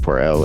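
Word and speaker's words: Pour Elle: I think it's just Pour L. It's French. Pour L. It means for her. Pour L. Let me do a second take. This is track 7, Pour L.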